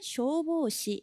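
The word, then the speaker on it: 消防士: 그래서 일본은 소방관을 소방사라고 하고 발음은 쇼보시 이렇게 돼요.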